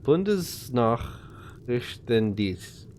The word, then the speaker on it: Bundesnachrichtendienst: No, S is pronounced like a Z. Bundesnachrichtendienst.